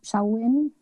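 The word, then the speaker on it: Samhain: the one word uh looks like Tom Payne but I think it's some sauwin ladia de los Muertos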